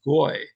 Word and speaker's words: goy: uses the term for nation that we would pronounce as goy.